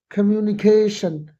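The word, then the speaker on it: communication: Oral कम्युनिकेशन कम्युनिकेशन टी आई ओ की sound श होती है।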